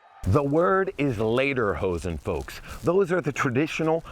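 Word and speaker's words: Lederhosen: The word is later hosen, folks. Those are the traditional leather shorts we're all wearing. Now, later hosen translates to leather pants. If you mispronounce it as leader hosen, that would actually translate to singing pants.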